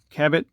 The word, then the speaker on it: Cabot: now cwc stands for cabot or cabo watch company however you want to pronounce that you can see here